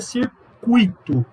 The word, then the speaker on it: circuito: Se pronuncia circuito, se pronuncia gratuito, se pronuncia fluido, se pronuncia rubrica, não é rúbrica.